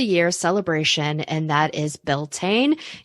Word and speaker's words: Beltane: celebration, and that is Beltane. You may also hear it pronounced as Beltana if you are Irish.